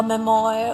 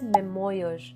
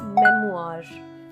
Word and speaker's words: memoir: This word is not pronounced as memoir, it's pronounced as memoir. Memoir. In this word, there are two syllables. The first syllable is mem.